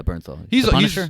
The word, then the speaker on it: Bernthal: how to say his last name oh yeah Bernthal right yeah he's he was he's a recurring